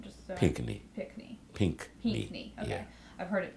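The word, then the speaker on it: Pinckney: you pronounce his last name just py PNE pink okay I've heard it pronounced like a million different ways um you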